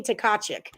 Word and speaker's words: Tkachuk: Yes, the T's are silent. I had a friend named Tiffany Tkachuk in middle school.